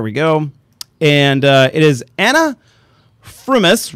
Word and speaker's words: Frumis: And it is Anna Frumis, right?